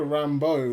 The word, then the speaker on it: Rambeau: Oh, like Beau, B-E-A-U.